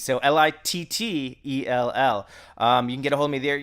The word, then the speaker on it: Littell: That's spelled like Chuck Liddell, except with two T's instead of D's. So Littell.